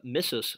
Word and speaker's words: missus: Mitto mitra, missus sum. Missus, as in like Mrs. Potato Head, but it's spelled differently.